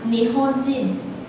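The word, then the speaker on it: 日本人: Còn khi âm on, ví dụ như mình gặp hay gặp chữ là mình đây chữ này mình sẽ đọc là Nihonjin.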